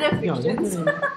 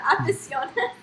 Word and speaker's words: aficionados: Some people don't even know how to pronounce it properly. Why are you pointing at me? What did you say the first time? I said Afficions. Afficions. Aficionados.